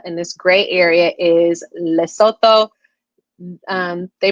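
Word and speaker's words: Lesotho: And this gray area is Leoto. Um they pronounce it Leoto because the th just has the t sound instead of a th sound.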